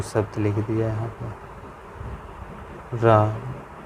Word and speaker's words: रामः: जैसे हमने कोई शब्द लिख दिया यहाँ पर, राम, ये विसर्ग लगा दी, ये होते हैं विसर्ग। ठीक, इसका उच्चारण हम क्या बोलते हैं? हा। अगर हम इसको पूरा पढ़ेंगे तो क्या बोलेंगे? रामः। क्या? रामः। समझ गए?